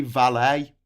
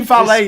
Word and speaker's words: valet: they're saying it right because it's a French word you shouldn't say the T on the end we're the one saying it wrong but we're not saying it wrong we're then to say valet now is an americanism